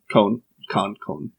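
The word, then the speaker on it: Kon: Khan is the puppet guy. Cone. It's spelled with a K.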